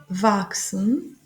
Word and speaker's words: wachsen: Ici, le CH se prononce X parce que il est après le S. S, il est après le CH. Il est avant le CH est avant le S et, et après le A.